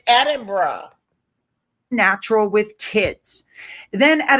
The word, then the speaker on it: Edinburgh: Edin- It's Edinburgh.